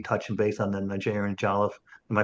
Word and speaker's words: jollof: We talked about Oni touching base on the Nigerian Jollof. Am I pronouncing that right, by the way?